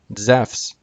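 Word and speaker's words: Ζεύς: word JeSUS, and the name Zeus in Greek, Zephs, completely different.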